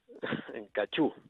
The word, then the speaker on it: Cachou: ¿Cómo se dice? ¿Cachou? ¿Cachu? Cachú. Cachú. Cachú. Como sí, Caillou. El nombre le pusieron los franceses y se pronuncia en francés, claro.